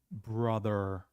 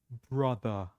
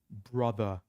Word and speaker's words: brother: British English is RA so R is silent it's dropped we are not saying it so repeat after me brother R is silent we don't say it okay one more time brother English with husse lovely